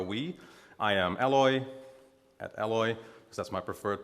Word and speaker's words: Eloy: I am Eloy, at Eloy, because that's my preferred pronunciation in English.